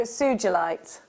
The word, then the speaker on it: sugilite: a Japanese gemstone so it is pronounced with a soft G as in ginger Suite Suite a soft G as in ginger Suites so sugilite Suites sorry jewelry makers